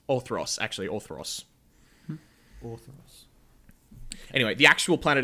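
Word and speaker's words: Orthros: the planet how do you how do you spell that orth yes o r t h r o s orthos actually orthos orthos anyway the actual Planet itself is called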